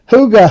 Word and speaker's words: Huga: Nobody knows how to pronounce that until she says or they say Huga, and that's how it's pronounced.